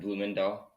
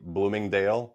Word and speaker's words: Bloemendaal: Bloemendaal. Yeah. Yeah, Bloemendaal. Good Yeah. job. Most people say Bloomingdale, like the store, Bloomingdale's.